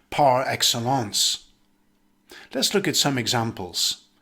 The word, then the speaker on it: par excellence: the noun or verb in english it's usually pronounced with a hybrid french accent par excellence let's look at some